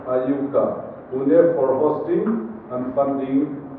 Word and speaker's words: IUCAA: I am particularly want to express my gratitude to the authority of the Inter-University Center for Astronomy and Astrophysics, as we pronounce IUCAA, Pune, for hosting and funding this NEMA-IX in our own university campus.